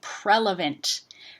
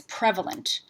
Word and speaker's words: prevalent: the beginning of this and they'll say prelevant. But what they're meaning to say is prevalent.